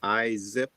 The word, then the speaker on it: ISSIP: I'm uh on the board of directors of ISIP which stands for and we pronounce it Izzip like innovation zips around the world and uh it stands for the uh international society of service innovation professionals.